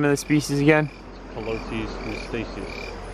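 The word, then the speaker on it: Calotes mystaceus: Colotes mystacius. Colotes mystacius.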